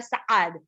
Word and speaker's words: Sa'ad: एक मेरा फ्रेंड है, उसका नाम है साद, तो SA'AD लगता है उसके नाम में, तो उसका नाम एक्चुअली होता है साद।